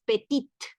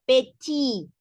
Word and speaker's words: petit: porque no decimos la peti peti no es petit sino pechi la t final no suena hay una pronunciación de ti sí porque es la la